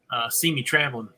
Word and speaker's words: CME Traveling: If you're looking for any MSC stuff, go check out See Me Traveling. and it's CME traveling, but it's pronounced See Me.